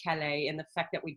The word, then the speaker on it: Calais: in a town called chalice which is right on the Canadian border it looks like Calais and I speak French so to me it should be pronounced Calais and the fact that